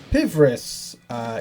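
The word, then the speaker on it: Pvris: Pivris, yes, love Pivris. Pivris are great, that is how the name is pronounced.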